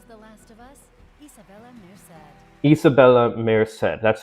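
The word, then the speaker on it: Isabela Merced: pronounced Isabella Shannon The Last of Us Isabella Isabella Meed that's how you pronounce it okay yeah no she's [ __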